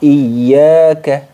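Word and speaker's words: إياك: yang kedua adalah ya jadi iyaka itu dasarnya seperti ini teman-teman Jadi jangan terlalu ringan jadi harus ditekan membacanya Oke jadi harus ditekan membacanya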